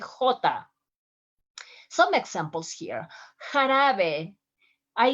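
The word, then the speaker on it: jota: review the video about the g and the j pronunciation those are part of the most difficult letters in spanish sounds like hota some examples here harabe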